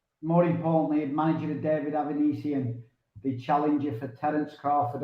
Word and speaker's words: Avanesyan: So you're the manager, obviously, of David Avanesyan. And just for the people that may not be able to pronounce his name, how do you pronounce David's name? Avanesyan.